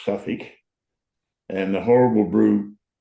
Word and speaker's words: Southwark: We had Southwark, pronounced Suffolk, and the horrible brew called West End, which fair dinkum was barely drinkable.